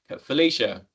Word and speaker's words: Felicia: Is anyone run one in the background while I've been Felicia? Apologies if I pronouncing your name wrong. No, it is Felicia. You got it right.